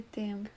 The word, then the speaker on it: temps: Élisa: So there are silent letters in Occitan.